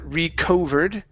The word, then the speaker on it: recovered: Instead of recovered, okay, the O right there in the middle is pronounced uh recovered. Recovered. Okay, nice. One more time. Recovered. Recovered. Okay, watch that. O, you don't want to say reco, but only rec.